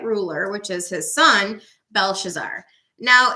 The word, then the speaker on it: Belshazzar: introduced to that ruler which is his son belshazzar now it's interesting because daniel was given a